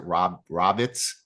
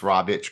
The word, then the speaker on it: Rawicz: I hope I'm pronouncing your name correctly because I think some people pronounce it Rawicz, but it's Rawicz, correct?